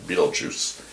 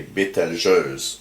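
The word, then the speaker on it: Betelgeuse: can um you know say that it's pronounce it like that beetlejuice um in french we say bitter joes and so uh that's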